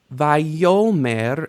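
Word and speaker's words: ויאמר: Vayomer, there is initial stress on the stem here, but you don't know enough to know why yet. Vayomer Adonai El Yehoshua bin Nun Misharet Moshe Lemor.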